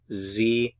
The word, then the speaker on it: sie: speak Zen they speak Zen they speak Zen notice the pronunciation of the s z z notice it's also lowercase s Zen do they speak remember